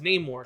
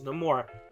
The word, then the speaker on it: Namor: uh in the movie he pronounces his name Namor and there's a reasoning behind that which you don't want to spoil because it is in the movie but you know oh we hear other people refer to him as nameor so it can go both ways but the in in Universe the correct correct pronunciation is no more so that was really